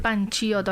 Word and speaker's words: Panciotto: Creo que pronuncia mal tu apellido, ¿cierto? Panciotto. Así es, yo le iba a decir Panciotto, ahí como a lo italiano, pero está bien, Panciotto.